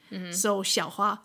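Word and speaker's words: Xiao: completely different right yeah X is somewhat in between an s s and an sh sh it's like sh soia x i a o so the sh yeah it gets people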